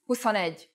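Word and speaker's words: huszonegy: the pronunciation for example 20 is whose with a long u but 21 is who's on edge with the U pronounced short four is need but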